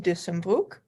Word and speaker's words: Dussenbroek: my name is dussenburg that's the right pronunciation beautiful name beautiful name english speaking people